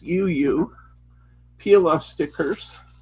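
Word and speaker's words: JEJE: This is They're It's J E J E, which is pronounced Yuyu. Peel off stickers. Yuyu.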